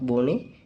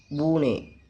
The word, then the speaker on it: Bühne: zum Beispiel fahren share Stuhl Böhe Sorry, it is not Böhne, it's a Bühne.